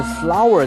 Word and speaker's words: flour: Flour and water 就是花跟水咯，不会吧？怎么会是花跟水呢？但是 flour 在这里拼音是 Flour。Flour 是面粉，它跟花的那个字发音是一样的哈，花是 Flower，flour and water，所以呢，把面粉跟水和在一起就制成什么呢？其实不能叫胶水啦，应该叫做浆糊哈。所以这样的一个用法是 flour and water